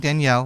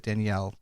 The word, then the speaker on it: Daniel: Now, I am saying Danielle, but it's Daniel in English, but they pronounce it Danielle in Portuguese.